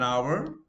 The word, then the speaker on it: hour: So it took us an hour. H is silent.